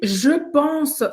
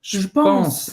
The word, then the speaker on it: je pense: Só que ele falou, je pense. Ele até fez assim. Ele falou assim, je pense. Ele engoliu o E. Hein? O E. Je pense. Isso, os franceses fazem exatamente isso no francês falado.